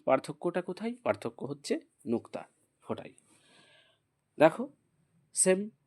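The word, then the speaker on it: ف: বাট এখানে পার্থক্যটা পার্থক্যটা কোথায় পার্থক্য হচ্ছে নুক্তা ফোটাই দেখ সেম কি দেখতে পাচ্ছি যে উপরে একটা মাত্র ফোটা ফোটা আছে এই লেটারটাকে বলব ফা এটার নাম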